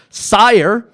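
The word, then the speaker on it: Syar: Sire, which is spelled S-Y-A-R.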